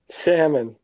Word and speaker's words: salmon: Salmon. Salmon. I say salmon. Elle is silent for some reason.